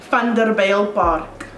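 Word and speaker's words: Vanderbijlpark: So the actual pronunciation is Vander Bijl Park or Vander Bijl Park. Say that again. Vander Bijl. The V Park. Is an F.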